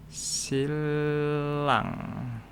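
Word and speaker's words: 신랑: Ini secara tulisannya sin rang. Nah, ini bahasa Indonesianya. Mempelai laki-laki. Ini tulisannya kalau secara tulisan sin dan rang. Tapi kalau dibaca niannya ini akan berubah menjadi L. Jadi dibacanya silang.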